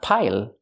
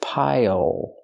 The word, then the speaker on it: pile: Pronunciation, not pile, but pile. Use the dark L at the end. It changes the vowel.